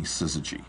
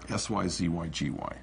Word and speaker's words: Syzygy: We originally named the company Syzygy, S-Y-Z-Y-G-Y. Syzygy. No one could pronounce it.